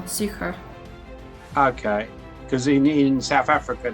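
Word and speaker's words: Sucre: the name of that it's like sucra i don't know how to pronounce it s-u-c-r-e yeah i like french for sugar sucra okay because in south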